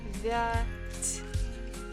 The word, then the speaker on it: девять: Девять. Stress falls on first syllable. Девять. Девять. Again, ya is not stressed. This is again, we pronounce it as E.